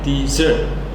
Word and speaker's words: dessert: Yang pertama, desert itu stressnya ataupun penekanannya itu di awal, desert gitu. Sedangkan yang kedua itu penekanannya di akhir, dessert.